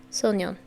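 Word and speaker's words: 소년: Sonyeon.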